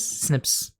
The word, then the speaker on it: SNP: Scientists found 1.4 million locations of the variation called SNPs single nucleated polymorphism pronounces snips.